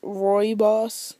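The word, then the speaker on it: rooibos: are reos te Ro it's actually pronounced Roy boss T um and I'll tell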